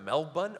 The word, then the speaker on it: Melbourne: I was like Mel but never heard of Mel bun oh wait do you mean Melbourne like there's